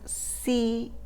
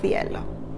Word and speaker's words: cielo: A tip if you are looking for the Spanish from Spain, the C in Spain sounds like a th in English for the C or C. So let's say in Spain, cielo, in Latin American, cielo, in Spain, cielo.